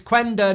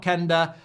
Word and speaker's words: Quenda: to get spun anymore it's quenda not Kender I don't really care